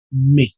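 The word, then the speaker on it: mais: Por ejemplo, tenemos el caso de la palabra me. La s no suena y esto significa pero me.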